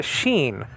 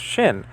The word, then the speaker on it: shin: like i've said before it's a sheen sometimes sometimes pronounced shin the name of this letter okay letter name or mr spock from star trek actually pronounce this letter shin and nachine you can pronounce it in both ways so it's not a